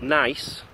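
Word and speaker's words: gneiss: is called something called nice that's how we pronounce it it's not spelled n i c e I don't know how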